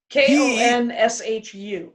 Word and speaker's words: Khonshu: Khonshu, right? Khonshu. Okay, K-H. Khonshu. Okay. If we're gonna do the Stewie pronouncing Khonshu.